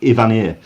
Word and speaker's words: Evanier: It's Mark Ivanier.